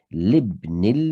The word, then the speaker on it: لابن: However, we know ibn has a hamzatul wasl, so you shouldn't pronounce the alif when there's a word joining it prior to it. So libnil mu'adhini, is this bicycle